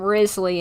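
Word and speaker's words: Wriothesley: know and uh Petra I've heard people call him Risley in case you want a easy way to say his name well he do be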